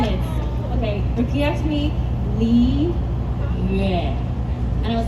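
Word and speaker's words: Liyue: Okay, repeat after me, Li Yue. And I was like, oh, okay, Li Yue, right?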